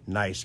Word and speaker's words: Nice: Seems that there are bats in Nice Cave. Zip, zame, zoom. And they've got it locked up. Pronounced nice. I was right.